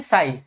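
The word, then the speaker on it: psi: अब देखिए आपको एक सिंबल ये मिलेगा, आप ये केमिस्ट्री में जा फ्रिक्वेंटली देखने को मिलेगा, इसको बोलते हैं साई। क्या बोलते हैं इसको? साई। इसकी स्पेलिंग साई क्या लिखोगे आप?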